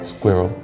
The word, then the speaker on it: squirrel: sound like water it's the r l sound is quite different difficult for squirrel yeah people in other countries it depends on how their language is it's very difficult for them to like go from the r to l really hard vanilla